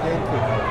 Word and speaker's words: Genki: Genki. That's how you pronounce it in English, Genki.